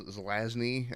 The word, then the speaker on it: Zelazny: is legion by rogers a lot it was zelazny i think i finally figured out how to pronounce his name but there it that book